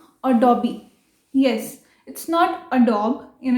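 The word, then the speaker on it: Adobe: सो it's right pronunciation is अडोबी।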